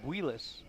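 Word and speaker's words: Builes: And it's Buelis, but it's spelled B-U-I-L-E-S.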